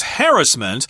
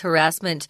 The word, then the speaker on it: harassment: also be read as harassment but that's primarily a British pronunciation I hear like that in the US so too Harris Manson I would say in the u.s. definitely it's harassment in the majority but